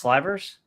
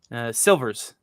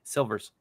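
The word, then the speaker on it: Sylvers: I guess I thought I Is it pronounced slivers? Silvers. The Y is an I. Silvers.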